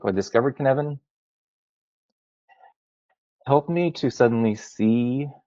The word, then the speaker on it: Cynefin: So, canvan is the phonetic pronunciation of it. It's a Welsh word.